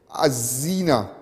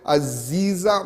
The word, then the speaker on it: Aziza: this time i'm gonna pronounce this nice beautiful girl named azzina aziza all right you corrected me yesterday so i'm going to make sure and say aziza all right no solomon